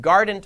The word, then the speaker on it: Guardant: keysight technologies and then guardant health should be like Guardian health but it's gardened health apparently GH guess for the